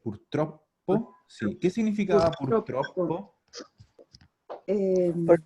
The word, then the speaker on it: purtroppo: Ojo aquí la pronunciación. Purtroppo. Doble P. Purtroppo.